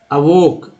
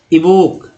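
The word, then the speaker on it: evoke: अब भाई शुद्ध उच्चारण क्या होगा, अवोक न कि इवोक। अब इवोक भी पढ़ेंगे तो शुद्धता उच्चारण शुद्धता की तरफ ही है, लेकिन 100% तो नहीं है। तो इस बात को समझना होगा कि भाई इवोक पढ़े या अवोक, चलेगा, इवोक भी चलेगा, क्योंकि नहीं आ रहा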